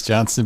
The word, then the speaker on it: Johnston: I always say it wrong, Johnson or Johnston. I think it's Johnston, but I always say it wrong too.